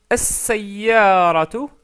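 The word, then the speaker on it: السيارة: Donc toutes ces lettres se doublent au début, donc c'est pour ça qu'on met une shadda et on ne prononce pas le lem.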